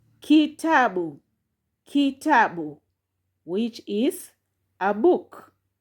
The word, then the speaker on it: kitabu: And lastly here there is syllable key plus ta plus bu you get kitabu kitabu kitabu which is a book so that one